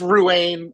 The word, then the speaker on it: Ruan: your last name correctly it's R it's Ruan I answered I've answered